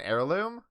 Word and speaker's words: heirloom: a testimony no val you don't pronounce the h in heirloom it's like how you